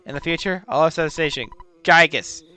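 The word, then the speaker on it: Giygas: the future all station gigus right gigas the universal Cosmic Destroyer yeah I will pronounce it gigus but uh Marcus LM Bloom the you know the little guy who translated this game translated pronounces it as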